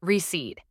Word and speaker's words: receipt: The P in receipt is silent. You say it like receipt.